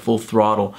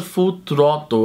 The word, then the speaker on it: Full Throttle: multimídia foi Full Throttle, que é a pronúncia mais babaca, a pronúncia correta, Full Throttle. Como eu pronunciava quando criança, Full Throttle, eu acho que era mais ou menos assim, Full Throttle.